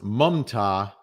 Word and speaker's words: Mamta: Someone is saying it's pronounced Mumta, even though it's Mamta. Oh, I guess the A is a U.